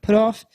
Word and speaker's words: Puthoff: Hal Puthoff. Is that how you say his name? Yeah. Puthoff.